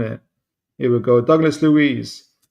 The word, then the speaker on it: Luiz: Do I keep on getting his red name wrong? Is it Ruiz or Luiz?